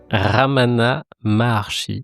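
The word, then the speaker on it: Ramana Maharshi: Ramana Marchi. Oui, c'est bien comme ça qu'on prononce.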